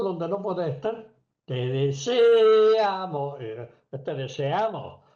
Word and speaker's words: deseamos: deseamos el acento tiene que estar en la A, no en la e como lo ponemos.